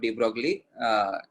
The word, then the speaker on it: de Broglie: Contribution of de Broglie in quantum mechanical model.